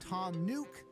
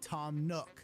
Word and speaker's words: Tom Nook: to address this but his name is pronounced Tom nuke and not Tom Nook the game does not